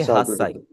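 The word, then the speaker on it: 八歳: आठ साल को हम बोलेंगे हासाई।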